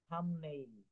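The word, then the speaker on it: thumbnail: তারপরে বলছে থাম, হাতের বুড়া আঙুল, থাম, থামনেইল, থামনেইল, এই বিটা কিন্তু, বিটা কিন্তু এখানে উচ্চারণ করবো না, থামনেইল, থামনেইল।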